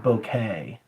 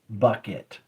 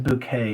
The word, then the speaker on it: Bucket: fat lady named Mrs bouquet but her name her name is spelled bu U ke T Bucket so the mailman's like